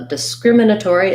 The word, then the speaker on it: discriminatory: third word was uh discriminatory so disgriminatory uh discriminatory again second syllable stress so there's a little